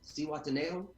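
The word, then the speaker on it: Zihuatanejo: I just got back from, I'm going to try to say it right, because my wife was like, you don't pronounce the Z. Cihuatanejo, Mexico.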